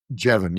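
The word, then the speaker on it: Jevons: Is that how you pronounce the name? Jeban. Jeban.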